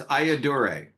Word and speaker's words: Ayyadurai: so explain your last name how do you pronounce that so it's aaor aaor he's an MIT PhD inventor of the